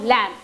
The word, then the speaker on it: lamb: Now let us look at the word lamb. L-A-M-B, lamb. You cannot hear, when we are writing, we are hearing, we are going to